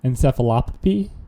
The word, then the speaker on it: encephalopathy: Encephalopathy?